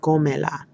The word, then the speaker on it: cómela: So I would say, cómela. And I would put the accent on the O there because, again, I want the stress on the O.